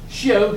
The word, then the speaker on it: scio: Scio, scis, scit. If you use the the Latin or the Roman pronunciation, shio, shis, So,